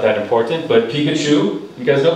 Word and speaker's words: Pikachu: you said pikachu but it should be emphasized on the second syllable which is uh on the first syllable which is pikachu okay so very good